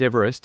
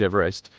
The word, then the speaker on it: Everest: as Peak 15 was renamed for Sir George Everest British surveyor general of India from 1830 to 1843 according to eological sources the Mountain's Western name is often mispronounced ever EST or EV rest despite the pronunciation of s George Everest serame